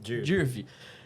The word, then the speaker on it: Dirve: É assim que pronuncia, Dirv.